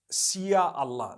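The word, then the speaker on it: Insya Allah: language they write in Sia Allah the s-y-a they pronounce it and they pronounce the Sy the way we pronounce sh so they can write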